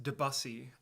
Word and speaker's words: Debussy: I've already had a private WhatsApp message saying it's pronounced Debussy, actually.